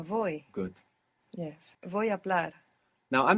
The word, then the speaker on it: voy: to speak vo vobl think of to go on a voyage ah voy good yes now I'm